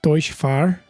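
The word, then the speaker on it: Deutz-Fahr: So we've got the class, the Deutsche Fahr, which is how you pronounce it apparently.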